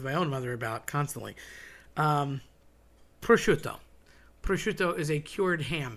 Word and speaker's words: prosciutto: Prosciutto. Prosciutto is a cured ham, very salty, very yummy. People say prosciutto. Okay, there's no B involved whatsoever. Definitely not a Z. It's prosciutto.